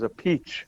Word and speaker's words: Appice: Luckily, he doesn't play because he says a peach, the Italian way.